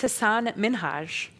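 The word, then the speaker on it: Hasan Minhaj: And then he goes on to tell her, "It's Hassan Minhaj." Ellen continues to try to pronounce it until she gets it right.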